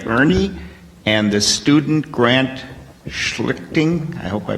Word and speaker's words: Schlichting: speech contest by Ernie and the student grant Schlichting. I hope I pronounced that correctly. Schlichting. Schlichting, okay.